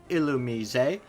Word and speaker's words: Illumise: Anyway, there is Volpe and Illumise, which is hard for me to pronounce for some reason. And it is Illumise because, yeah, get cultured.